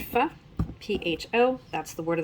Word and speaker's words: faux: It's actually pronounced pho, P-H-O.